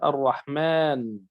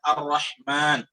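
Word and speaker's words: الرحمن: tapi ketika Kita mengucapkannya kita mengatakan ar-rahman dengan memanjangkan Mi ya memanjangkan Meme sedangkan ya tidak boleh ditulis sana Alif sama sekali ya tidak boleh tulis Alif sama sekali Saya ulangi ketika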